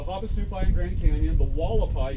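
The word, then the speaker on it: Hualapai: Tribes along there going from north to south were the Havasupai in Grand Canyon, the Wallapai, even though that's an H, it's spelled Wallapai in the Grand Canyon, and then we have the Paiute, Mojave, Chemehuevi, Quechan, and the Kokopah.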